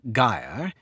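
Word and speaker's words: gyre: two words Sly thee make the G hard in guire and Gimbal and pronounce wrath to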